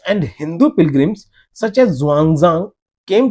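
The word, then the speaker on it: Xuanzang: जो थे, जैसे ज़ुआंगज़ांग, ये ज़ुआंगज़ांग बच्चे इसको ह्यूआनसांग थे पहले, ठीक है, ह्यूआनसांग ये पहले नाम था, अभी के समय में इसका प्रोनाउंसिएशन ज़ुआंगज़ांग और स्पेलिंग भी चेंज है।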